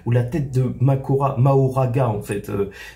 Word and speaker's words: Mahoraga: la tête de Makora maoraga en fait c'est écrit comme ça mais ça se prononce plus Makura normalement donc qui se coupe